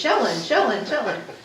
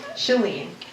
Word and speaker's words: Shalene: For like months and months, it was Shellen. No, Shalene.